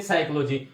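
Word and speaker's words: psychology: तो साइकोलॉजी की मीनिंग में P साइलेंट रहता है, यानी हम जब भी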